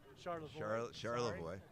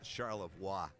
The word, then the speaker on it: Charlevoix: yeah they spent the night in Charlevoix uh Charlotte boy you're talking to an Ohio guys yeah yeah we don't know how to pronounce anything that's okay if you listen to